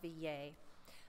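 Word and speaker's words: Villers: Marie Denis Villiers and since I'm seeing that she's French I would probably be pronounced V yay Marie Denis VA was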